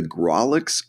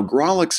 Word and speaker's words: Grawlix: If you'd like to host your own webcomic without learning any new code, then you want the Grawlix Content Management System, currently running a crowdfund campaign on Kickstarter.